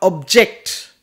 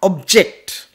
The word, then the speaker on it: object: Next one, I did not object to the object. I did not object. Slight difference in pronunciation.